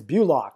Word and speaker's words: Bulach: got someone online and his name is clits and it's bulik he gave me some way to pronounce it it's bulik we lock you there clean